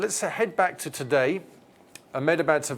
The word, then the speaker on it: Ahmedabad: Sardar Vallabhbhai Patel International Airport in Ahmedabad.